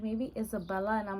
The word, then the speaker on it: Izabella: Because it's Isabella, not Isabella. Even in Spanish, it's not Isabella, it's Isabella. So that I purposely did the Z so people could pronounce the Z.